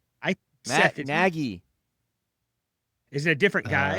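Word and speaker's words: Nagy: It's the long a sound.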